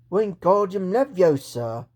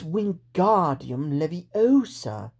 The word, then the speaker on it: Wingardium Leviosa: Wingardium Leviosa! He shouted, waving his long arms like a windmill. You're saying it wrong, Harry heard Hermione snap. It's Wingardium Leviosa. Make the gar nice and long.